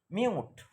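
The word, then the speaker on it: mute: পরে যদি ই লেটার থাকে তাহলে ইউ এর উচ্চারণ ইউ এর মতো হবে মিউট এম ইউ টি ই মিউট ইউ লেটারের পরে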